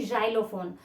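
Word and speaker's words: xylophone: शब्द है जैसे की जाइलोफोन तो वहां पे एक्स का साउंड कैसे ए रहा है जे जाइलोफोन ठीक है तो वहां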